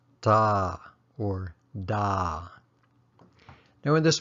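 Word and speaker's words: တာ: It's pronounced da or da.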